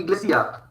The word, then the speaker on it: iglesia: I is pronounced as E. E. E. For example, iglesia.